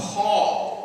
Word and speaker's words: pall: Then we have, we have something called a pall, which is not spelled like my name. It's spelled P-A-L-L.